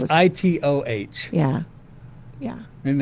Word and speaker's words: Itoh: I call them Itos. What do you call them? I don't know. I think I said. I don't pronounce them Itos. It's Itoh.